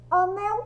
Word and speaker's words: anel: Vamos chamar anel para saber qual sílaba é a mais forte. Anel, anel. Qual som que saiu mais forte? É o som do nel.